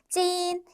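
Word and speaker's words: 斤: 기초 단계에서 배우는 한자인데 찐 찐이라고 발음하여 근 그러니까 무게를 세는 단위에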